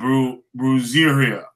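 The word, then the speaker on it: brujería: the American voodoo, and Latin American spirituality, and brujeria.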